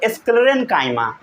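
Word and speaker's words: sclerenchyma: पढ़ना पहले सीखिए, प्रोनाउंसिएशन करना सीखिए। पैरेन्काइमा, साथ साथ बोलिए पैरेन्काइमा, पैरेन्काइमा, फिर बोलिए कोलेनकाइमा, कोलेनकाइमा, फिर बोलिए स्क्लेरेनकाइमा, स्क्लेरेनकाइमा, स्क्लेरेनकाइमा, समझ गए।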